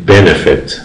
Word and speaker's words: benefit: ای فعل benefit تلفظ میشه. چند سیلاب داره؟ سه سیلاب داره. خیلی ببینید benefit benefit. خب در این صورت چون که سیلاب اول هنوز فشار میگیره، یعنی سیلاب آخر نمیگیره،